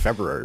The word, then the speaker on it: February: So don't say February wrong. I don't say February wrong. February. I pronounce the R.